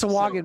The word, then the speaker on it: Sahuagin: I wanted to make sure I pronounced that correctly. I know Sahagin. Swaggin. Sahuagin? So, Swaggin. Swa. Yeah. It's Sawagan, but Brian, some post that call link it again.